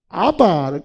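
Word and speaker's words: אבא: 근데 이거는 공교롭게 이 아람어하고 우리말하고 발음이 똑같이 되어버린 거예요. 우리가 아이들이 아버지를 친근하게 부르면은 아빠라고 부르죠. 그러니까 이 아빠가 우리말 아빠를 써놓은 게 아닙니다. 이거는요. 우리말을 아빠라고 써놓은 게 아니고 아바, 이 아바라는 거는요, 아람어인데요.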